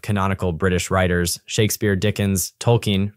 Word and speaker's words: Tolkien: Moments later, he rattled off a roll call of canonical British writers: Shakespeare, Dickens, Tolkien, pronounced like a coin, Lewis, Orwell, Kipling, as though name-checking a syllabus could stand in for a worldview.